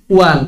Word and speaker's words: one: Huruf E bacanya apa? I. Digabungin? One. Gimana ceritanya itu? O-N-I. One. Gimana ceritanya itu? Kan bingung.